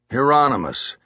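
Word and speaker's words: Hieronymus: Heronomous.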